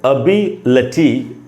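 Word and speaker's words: ability: अगर ये छोटी ही है तो यहाँ फिर बड़ी वाला मैं क्यों लिख रहा हूँ, अभी क्यों लिख रहा हूँ, क्योंकि यहाँ पर स्ट्रेस है, स्ट्रेस है इसलिए वो छोटी होते हुए भी बड़ी का साउंड ले रहा है।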